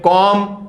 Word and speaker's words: comb: में B silent है, सब में बी साइलेंट है, सब में, सब में। फिर इसको क्या बोलेंगे, इसको बोलेंगे कॉम।